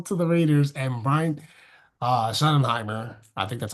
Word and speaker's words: Schottenheimer: Anyway, Pete Carroll to the Raiders and Brian Schottenheimer.